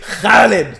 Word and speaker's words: Khalid: to make sure everyone could pronounce my name in Arabic. It was cute. Khalid. Say Kha. Everyone say Kha.